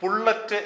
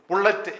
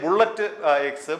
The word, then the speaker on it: pullet: യഥാർത്ഥത്തിൽ അതിൻ്റെ പേര് ബുള്ളറ്റ് എന്നല്ല, മറിച്ച് ഈ കച്ചവടക്കാരിട്ട പേരാണ് ബുള്ളറ്റ് മുട്ട. പുള്ളറ്റ് എന്നാണ് ആ എഗ്ഗിന്റെ പേര്. PULLETEGGS, പുള്ളറ്റ് എക്സ് എന്നാണ് അതിൻ്റെ യഥാർത്ഥ ഉച്ചാരണം. പക്ഷേ ബുള്ളറ്റ് എക്സ്, ബുള്ളറ്റ് മുട്ട എന്ന രീതിയിലാണ് ഈ കച്ചവടക്കാർ ഇതിനെ വിൽക്കുന്നത്.